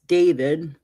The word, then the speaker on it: D4vd: The brief said that David, pronounced David, 21, whose legal name